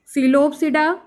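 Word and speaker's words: Psilopsida: अब ये 4 क्लासेस में है, सीलोपसिडा, लाइकोपसिडा, सीनोपसिडा, फिर लाइकोप, फिनोपसिडा, टेरोपसिडा, ठीक है। सब में साइनेट ये पी साइलेंट है, जिसमें जिसमें पी आया है वो साइलेंट है।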